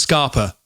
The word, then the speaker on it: Scapa: Scapa. There's no R. I know, but it's pronounced Scarpa for some reason.